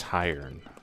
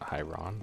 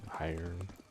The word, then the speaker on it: Hiern: So it's pronounced Hiern, not Hyron. Hiern.